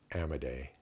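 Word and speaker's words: Amodei: Uh Mark Ammedday. I think that's how you pronounce it. A M O D EI.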